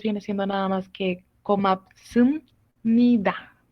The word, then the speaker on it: 고맙습니다: Entonces acá lo primero pues viene siendo nada más que komapsum nida. ¿Ok? Sum. 고맙습니다. 고맙습니다. ¿Ok? Zoom. Con M, como estaba diciendo.